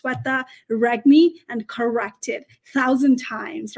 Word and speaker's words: Sweta Regmi: with a different name pronounce my name right I'm no longer going to say oh it's okay you can call whatever you want no pronounce it as Setta reg me and corrected thousand times